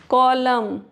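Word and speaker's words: column: साम next rule है एन is silent after M एट द एंड of some word. M के बाद अगर एन है तो एन साइलेंट होगा।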